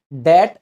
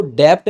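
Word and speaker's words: debt: कर्जे में फस गए डेट ट्रैप इसमें ध्यान दीजिएगा इसको डेप्ट नहीं पढ़ते हैं बी साइलेंट रहता है मालदीव्स और आपने देखा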